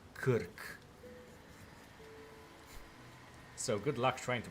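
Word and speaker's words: Krk: like uh there is an island in Croatia that's literally written as this and it's uh pronounced as Kirk.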